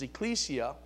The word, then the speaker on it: Ecclesia: now the the Greek word for church is Ecclesia it's spelled e-c-c-l-e-s-i-a and which means something what does